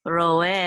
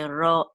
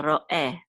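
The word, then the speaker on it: רֹעֶה: So we're not going to say roe altogether. We're going to say roe. So there'll be a slight pause between ro and e. Okay, so roe. And this is really important, especially to native Israeli Hebrew speakers. That would be more proper to say it that way.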